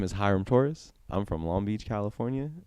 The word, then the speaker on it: Hiram Torres: My name is Hyram Torres.